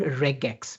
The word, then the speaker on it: Regex: It's called regax because it's short for regular expression and there is something in English which makes it regex but reax is also widely used.